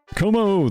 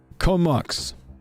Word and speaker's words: Comox: Sorry, I'm supposed to say Comox.